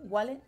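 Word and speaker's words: WALL-E: la película de wale cómo le decir Wally wale yo le digo wale como se escribe en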